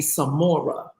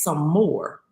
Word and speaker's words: Sommore: doing I said um you keep calling me Samora I said and my name is some more he was like oh